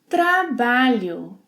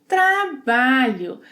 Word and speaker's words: trabalho: Trabalho. Trabalho. The LH sequence must be pronounced as one sound.